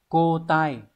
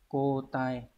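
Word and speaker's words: 交代: Từ này đọc là cô tai. Cô tai.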